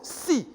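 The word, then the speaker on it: 四: chiffre 4 porte malheur il se prononce si comme la mort au point que certains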